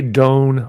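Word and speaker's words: Doyne: Doan Farmer. It's spelled D-O-Y-N-E.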